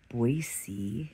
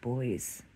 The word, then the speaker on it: Boise: if I was there I'm in boisey instead of boys I love that I know how to pronounce that now and uh